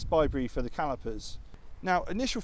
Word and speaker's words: ByBre: there these are actually bybre if you want to pronounce it that way so it stands